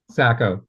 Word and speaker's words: Sacco: Sacko. It's a town. Okay. Just like it looks.